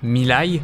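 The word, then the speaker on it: ミライドン: de la version violet miriz qui se prononce lui milai ça veut dire futur plus on descend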